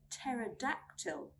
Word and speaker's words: pterodactyl: We do not pronounce the P sound when it comes in a combination of PS, PT, and PN. Let's look at some examples. Pneumonia, pneumonia. Psychology, psychology. Pterodactyl, pterodactyl.